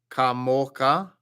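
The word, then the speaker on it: כָּמוֹךָ: Mi kamocha. That's actually guttural on the end.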